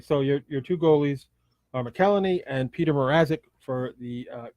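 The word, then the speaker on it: McElhinney: and Peter Mrazek do the goalies know it's McElhaney dude that's an irony yeah okay Kellen II okay so your two goalies are McElhaney and Peter Mrazek for the Carolina Hurricanes and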